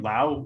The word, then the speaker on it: Lowe: answer there holden yeah just brandon lau and everyone else is a low okay i i won't